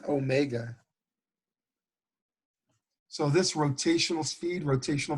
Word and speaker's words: omega: And all of these is named by a Greek letter that looks like W, but actually we pronounce it omega.